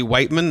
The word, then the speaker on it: Wight: Yes, the next one's from Jesse Whiteman, another avid Twitter responder, follower. We love Jesse. His name is actually Whiteman, but it's spelled Wight.